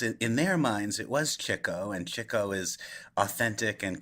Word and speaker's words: Chico: out in later interviews, lots of journalists address Chico as Chico, and he never corrects them and tells them that they're pronouncing his name wrong. And I also think, although I say Chico chiefly because Groucho did, and I want to feel as authentic to those guys as I can.